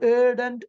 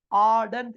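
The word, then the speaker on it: ardent: வேண்டி இருக்கும் இங்கே வந்திருக்கின்ற ஏ ஆர் டி என்ற சொல் சிலர் ஏடன்ட் ஏடன் என்று உச்சரிக்கிறார்கள் அப்படி அல்ல ஆடன்ட் என்று லாங் வவ்வல் வரும் இனி அதன் பிறகு தமிழ்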